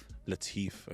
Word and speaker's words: Latif: Shazad Latif, okay.